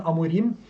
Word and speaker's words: Amorim: I think that is the right pronunciation, Amorim.